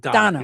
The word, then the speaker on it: Dana Bash: It's spelled Dana, but he pronounced Donna.